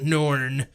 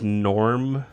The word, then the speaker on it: Norn: Did you say his name was Norm? Norn, with like an N. It's like Norm, but in a fantasy environment.